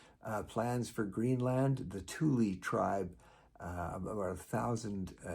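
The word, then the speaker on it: Thule: you have the the the Tuli tribe and yes that's spelled the same way as your ski rack T H U L E the Tuli uh tribe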